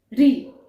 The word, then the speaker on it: ऋ: स्थान की मुर्धा स्थान अर्थात जिसमें आप अपनी जीवा को हल्का सा मोड़ देते हैं ट्विस्ट करते हैं और फिर उसके द्वारा आप उच्चारण करते हैं ठीक है और वो है ऋ ठीक है ऋ देख आप हल्का सा मो ट्विस्ट कर रहे हैं और बोल रहे हैं री और हमारा जो च